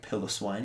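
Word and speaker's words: Piloswine: big pile of swine pillow swine depending on your pronunciation i like pillow swine even though there's not two l's um big old lobster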